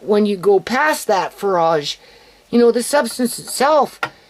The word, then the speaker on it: Farage: being with a far how do you say that um farage a Fage farage like a like it's like a mirage but it's more like